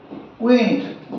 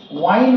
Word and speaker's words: wind: তারপরে উইন্ড, W-I-N-D, এর দুটো উচ্চারণ আছে, উইন্ড। একটা হচ্ছে যখন উইন্ড হবে, উইন্ড strong wind is blowing, strong, strong, strong wind is blowing, blowing, জোরালো বাতাস বইছে আর কি। আর যদি ওয়াইন্ড বলি, ওয়াইন্ড, ওয়াইন্ড লেগো, এটাই